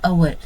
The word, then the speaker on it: hour: So for example an hour see here now here we have h but h is silent here and we called it as our so that is the